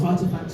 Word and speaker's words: RTFKT: There is Artifacts, which is spelled RTFKT.